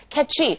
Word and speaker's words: catchy: catchy라고 해서 끝까지 배에 힘을 주고 발음을 하게 됩니다. catchy.